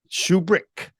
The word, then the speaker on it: Shubrick: doing well how about yourself I am I'm pronouncing your last name correctly aren't I shoe brick yes shoe brick uh shoe brick I liked it I like